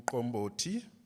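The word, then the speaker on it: umqombothi: is very interesting because it's called um combo tea those lots of Clicks in African languages so you have to say it properly in combo to say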